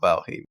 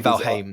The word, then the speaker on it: Valheim: just because you know it's not Val um I don't know like I'm I'm getting guess that one of these days a Nordic vers is going to be like actually pronouncing it right for everyone pronounce it wrong but no not that it's actually valim the entire time yeah because I played